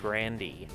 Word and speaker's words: Grande: Well, actually, I remember seeing at least 2 interviews where she pronounced her own last name Grandy, or something like that.